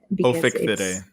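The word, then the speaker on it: Ophichthidae: I'm not going to even try to pronounce what it actually is. Ophicthidae.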